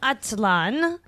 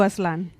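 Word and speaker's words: Aztlán: Those were 2 tracks off of 7 October's sophomore album, From Chihuahua to Atlan. Am I saying that decent enough? Close enough, yeah. Say it correctly. From Chivalba to Aslan.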